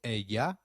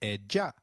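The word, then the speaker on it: ella: of edia in Spanish Double L takes up the sound of Y in some areas and a soft J in others so you'll hear both a ya and eja all right let's review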